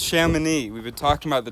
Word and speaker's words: Chamonix: It's pronounced Chamonix.